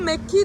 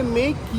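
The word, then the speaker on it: Méqui: അതിൽ എഴുതിയിരിക്കുന്നത് മെക്കി 1000 അല്ലേ? അപ്പൊ അത് പോർച്ചുഗീസിൽ പറയുന്നത് ഏമിയാണ്. എം എന്ന് പറഞ്ഞ ഉച്ചാരണം, കെ എന്നുള്ള സൗണ്ടാണ്. അപ്പൊ മേക്കി, MC എന്നുള്ളതിന് അവര് മേക്കി എന്ന് പറയുന്നത്.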